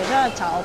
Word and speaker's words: 熱炒: メニューのないお店は台湾で熱い炒めると書いてジャーチャオとか、ち